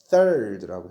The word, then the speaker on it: third: 이거 third 이름 돼야 안 돼요? 안 돼요. third라고 해야 돼요. th가 어떤 발음이에요? 그 다음에 드 발음이죠. 번데기 그죠? 여기서는 번데기 발음이에요.